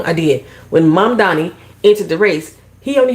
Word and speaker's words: Mamdani: We're gonna talk about the race in New York with Mamdani and Cuomo, who ran against him, who was